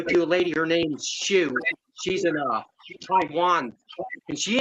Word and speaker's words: Syu: Her name is pronounced Shu, but it's spelled SYU, and her chat's called Sleepless in Kalimba.